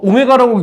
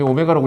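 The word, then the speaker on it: ω: 그래서 자 그래서 이거 오메가라고 읽자. 일단 그지? 오메가라고 읽어야 돼. w가 아니지.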